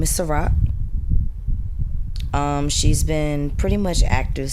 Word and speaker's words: Sa-Roc: Her name is Sa-Roc, like the drink. But not spelled like that.